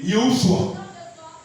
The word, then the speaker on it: Yehoshua: Va fouiller en hébreu Josué ou Jésus, ça se dit Yehoshua, Jéhovah sauveur.